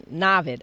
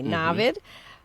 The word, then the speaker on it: Naveed: of knowledge we have is Naveed like David but with a Navid okay Navid who's a Seer who's trying